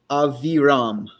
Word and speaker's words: Abiram: Dathan and Abiram. Okay, I'm going to say it like an American would. Dathan and Aviram.